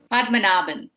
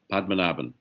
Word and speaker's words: Padmanabhan: And while you're doing that, Member Padmanabhan, did I pronounce your name correctly? Padmanabhan. Okay, I got the emphasis on the wrong syllable. Okay, Padmanabhan. Yes. Got it. All right. Padmanabhan.